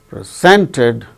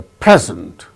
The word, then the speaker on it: present: Present, the chief guest presented a present. So, when it is used as noun, it is present. When it is used as verb, present, second syllable gains stress.